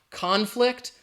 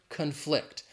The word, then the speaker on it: conflict: If it's talking about, if it's a noun, the stress is on that first syllable. If we're talking about the verb, the stress is on the second syllable. Think about that word right there. The noun conflict, the verb conflict.